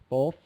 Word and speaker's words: both: with the th and Joanne oh both really hit that ending hard Joanne both what happens